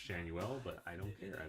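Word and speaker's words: Schanuel: I'm aware his name is pronounced Shanuel, but I don't care.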